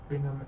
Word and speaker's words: Bingham: The title track earned Bingham an Academy Award. Am I saying it? Yeah. I was worried that was singing saying his name wrong, like it was Bringham or something.